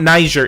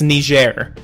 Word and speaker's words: Niger: No, it's not Niger, it's Niger.